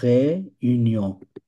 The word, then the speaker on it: réunion: এটা হচ্ছে réunion। লাস্টের এনটা উচ্চারণ হবে না।